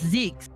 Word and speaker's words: Zeix: The last name is Zeix, because That would German be- IE is pronounced as E.